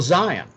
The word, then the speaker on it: Zion: T apostrophe Z, and the T is silent. So it's still Zion.